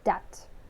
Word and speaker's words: debt: one a little because we do not pronounce B here. It's not debt, right? It's just uncomfortable to pronounce. So quite naturally it comes as just a second. Debt. Yeah, this is debt.